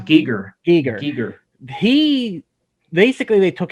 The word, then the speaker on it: Giger: kind of talked about it but is it geeger or geiger how do you say it's pronounced giger eager he basically they took his hellscape vision